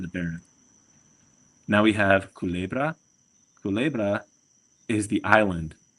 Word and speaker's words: Culebra: Now we have Culebra. Culebra is the island. and I remember this because it's kind of like someone saying cool bro.